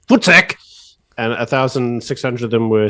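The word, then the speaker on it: voetsek: So, African Idiot, let's just say it properly, it's Footsec.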